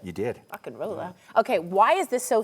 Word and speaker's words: Rock and Rolla: Rock and Rolla.